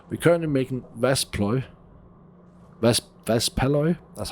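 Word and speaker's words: Waspaloy: We're currently making Vaspalloy, that's how you say it, and it's quite intense in terms of temperature.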